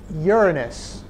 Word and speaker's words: Uranus: Okay, next planet, Uranus. Despite how you might want to pronounce it, that's how I'm going to pronounce it and how astronomers pronounce it.